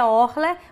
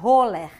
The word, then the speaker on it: Orler: É Orler, mas algumas pessoas começaram a pronunciar Roller.